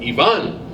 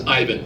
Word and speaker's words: Ivan: And I finally figured out how to say his name right because I want to call him Ivan. And he tells me his name is Ivan.